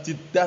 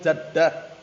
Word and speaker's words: jaddah: Mafhum naam bacanya bukan jiddah tapi jaddah.